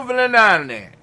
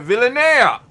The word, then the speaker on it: Villanea: Fernando Villanane. I'm going to say it right. Villanea.